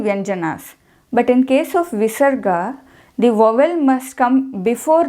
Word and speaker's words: visarga: clearly states the how how the visarga has to be pronounced dishloka goes like this yes like how a baby snake who is that means who has little energy exhales nishwa Saha means exhale like that we have to pronounce the visarga ushma refers to the visarga means the her sound is not allowed it should be devoid